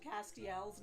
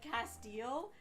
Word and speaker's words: Castiel: reading the right answer he mispronounced castiel's name yeah that was embarrassing for him he said Castile and out before I could think out loud I went Castiel and that's when the